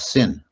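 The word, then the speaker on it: ศีล: adopt a poly word they usually drop off the the terminal vowel and they they can't pronounce a word that ends in a in an L sound. A syllable has to end in only a few narrow range of sounds. So sila in Thai becomes sin and I I remember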